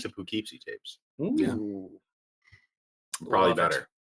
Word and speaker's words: Poughkeepsie: Poughkeepsie? Poughkeepsie tapes. Did I say it wrong? Poughkeepsie. Poughkeepsie. Well, it's like carrot. Carrot. That's Yeah. okay. I mean, why would anybody Impotent. spell it that way if they didn't want Poughkeepsie. if they didn't want it to be pronounced Poughkeepsie. that way?